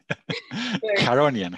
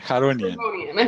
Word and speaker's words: Charonian: Today we have George who will be presenting on the how do you pronounce it? Charonian. Charonian.